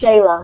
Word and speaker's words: Xela: Or Shayla, which is just Xela.